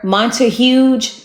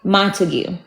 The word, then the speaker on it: Montigue: They just call her Mont Huge or something like that. They never just properly say Montigue.